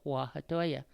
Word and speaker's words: Huajatolla: The Native American spelling of it is Wahtoya. It's pronounced exactly the same way, Huajatolla.